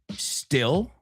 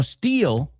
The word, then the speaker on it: still: Still, no steal, right? Steal es acero, robar. Esto es still.